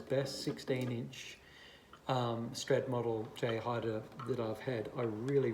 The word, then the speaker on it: Jay Haide: just happen to have this is a j hider and i believe that's about the right pronunciation j hider 16 inch and this